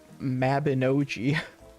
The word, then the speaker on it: Mabinogi: But um that this other one, this like anime fantasy RPG called Mabinogi. It's it's it is uh it's spelled how it sounds.